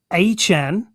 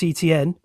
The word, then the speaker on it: Etienne: The Saints getting Travis Achan. Who is Travis Achan? Apparently, that's Travis Etienne.